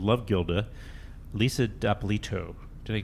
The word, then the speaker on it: D'Apolito: And then the director of a new documentary called Love Gilda, Lisa D'Apolito. Did I pronounce that correctly?